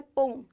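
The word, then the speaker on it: poem: तो बेसिकली कुछ लोग पोम बोलते हैं, कुछ लोग पोएम बोलते हैं, पर जो सही प्रोनाउंसिएशन है मोस्टली जो अपन यूज करते हैं वो है पोम।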